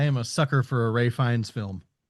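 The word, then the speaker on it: Ralph Fiennes: Ian Kelson, played by Ralph Finnis or Finn Ray Fines, actually. It it's it's Ray Fines is how you it's it's he's he pronounces his name completely different from how it's spelled.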